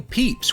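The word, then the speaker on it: Pepys: of stone in 1669 samuel peeps which is spelt like this by the way wrote his final journal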